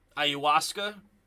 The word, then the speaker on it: ayahuasca: sure he'll play but yeah ayahuasca that's how you say it huh ayahuasca ayuska ayahuasca hopefully everyone is back